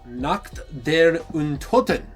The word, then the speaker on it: Nacht der Untoten: The next one we have is Nacht Der Untoten. That's how you pronounce it?